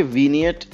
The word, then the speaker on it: Vignette: पहले बात करते हैं कि वीनियट एड्स क्या होते हैं। वैसे स्पेलिंग तो आप इसके देख रहे हैं, लेकिन इसको प्रोनाउंस करते हैं वीनियट।